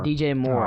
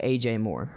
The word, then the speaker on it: DJ Moore: take off his helmet DJ Moore oh my God I always get his name wrong and I always say AJ Moore yeah I don't know